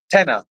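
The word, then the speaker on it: Tena: It is pronounced tenner, an incontinent product in the UK.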